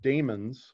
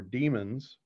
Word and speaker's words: daemons: The thing that I want you to understand is that processes are called services in Windows, and they're called daemons or demons, and that's spelled D-A-E-M-O-N.